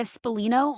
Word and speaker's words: Spallino: And then I was just telling Erin before the show, my last name is Spa, like the spa.